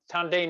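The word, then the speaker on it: tanden: the on this drawing tandain is the japanese pronunciation of the chinese word dantien which is the the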